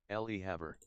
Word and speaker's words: Le Havre: The next stop is Le Havre. So it's Le Havre. That's the correct pronunciation, it seems.